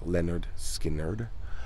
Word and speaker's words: Lynyrd Skynyrd: 1973 their debut album leonard skinner pronounced leonard skinnard announced a group to